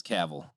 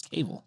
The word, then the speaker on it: Cavill: re-shot Cavill Henry Cavill it is Cavill why do I when I think it was cable beard all right that's British man it's because yeah I think the Brits call him cable maybe three Cavo yeah